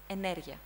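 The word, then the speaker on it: ενέργεια: The correct stress is on energia.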